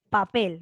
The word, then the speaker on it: papel: vayan comprando junto conmigo papel porque tú dices papel tú nos dices papel tú no dices pásame el papel tú dices pásame el papel no fuerza de voz en la última ahora vamos con la